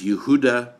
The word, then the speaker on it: Yehuda: historian his name is yehuda bauer yehuda is the hebrew pronunciation for the name judah you heard a bower